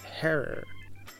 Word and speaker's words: Herer: cartridge of the infamous Jack Herer pronounced like terror a little history about